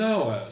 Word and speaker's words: hour: I've been waiting for an hour. Ça fait 1 heure que j'attends. 1 heure et demie. An hour and a half. An hour. An avec un N parce que le H ne se prononce pas.